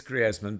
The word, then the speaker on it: Griezmann: It is Griezmann, but I think generally it's such an odd because he plays for France, but it's a Spanish name, really, isn't it?